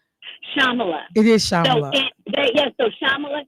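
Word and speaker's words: Shyamala: First of all, how do you pronounce your mom's name? Because I want to make sure I say it correctly. Shamala.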